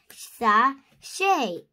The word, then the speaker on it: sachet: You say it like this, sachet.